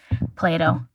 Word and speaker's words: Plato: Plato.